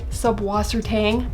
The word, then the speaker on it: Subwassertang: here so it does generally go by sub waser Tang I believe that's the most common pronunciation of it although I am half